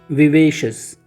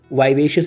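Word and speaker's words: vivacious: Next we have विवेशियस। American जो pronunciation है इसका वाइवेशियस भी होता है, वाइवेशियस, ठीक है।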